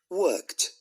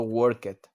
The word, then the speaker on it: worked: Ok, como pueden escuchar, no es de que lo pronunciemos esta work y la forma en pasado worked. No, tiene su pronunciación característica, worked. Un sonido de T al final. En vez de agregar una sílaba extra, nada más agregamos ese sonido de T.